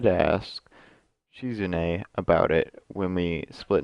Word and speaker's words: Shizune: Misha Misha is consistent laughter and second the pronunciation of this one I will get these down shizune she's a nice nickname is chic on she comes or shizune maka a class rep shizune all right she was an a's sweeping at